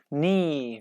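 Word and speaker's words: knee: Ni. We pronounce like ni, not kni, okay?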